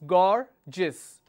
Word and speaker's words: gorgeous: A word that I can think of is gorgeous. Okay. So how many syllables? Gorgeous. So this is my word ending. The stress is here. Gorgeous. SION.